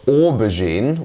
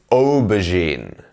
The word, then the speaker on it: aubergine: Remember, it's not aubergine, which this sounds like. It's aubergine.